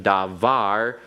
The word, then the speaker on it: davar: cannot retain the pronunciation davar Yahweh first of all because you have an accent on davar it is a word that has its Accent on the last syllable which is the normal